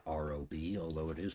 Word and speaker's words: Raabe: So today we're going to be um solving Rob's integral and it's spelled R A B not R O B although it is pronounced Rob.